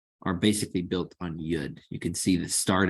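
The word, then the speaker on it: יוד: All of the letters are basically built on Yud. You can see the start of each stroke is Yud. Okay, this gives us a nice Y sound, as in yes.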